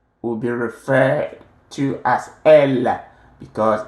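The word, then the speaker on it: elles: Elle, pronounced the same way as L here. The S here is silent.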